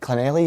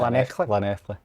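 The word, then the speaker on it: Llanelli: Is it Clonelli you pronounce it? Lanethley.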